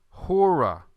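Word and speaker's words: ὥρα: Notice the way I pronounced it. Is this rough or smooth? Hemera. This is rough. Okay, number 4, hora.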